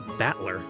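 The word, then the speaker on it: Battler: for fight and person and is pronounced batler oh I I see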